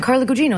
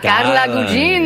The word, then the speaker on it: Carla Gugino: And I was like, "No, Carla. It's Italian. Carla Gugino." And they went, "Oh, Carla. Carla Gugino."